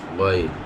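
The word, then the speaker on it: غ: কে ধরেছে তিন নাম্বার তিন নাম্বার মাখরাজ হলকের শেষ হইতে অথবা হলকের শেষ ভাগ হইতে উচ্চারিত হয় যথা গাইন খ গাইন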